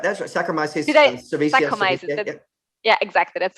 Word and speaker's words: Saccharomyces cerevisiae: Saccharomyces cerevisiae. Saccharomyces. Yeah, exactly. That's right. Sorry, my pronunciation wasn't good there.